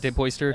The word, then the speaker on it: DePoister: DePoister? Yeah, you did. Yeah. Nice. And hit. Did you get some mispronunciations often?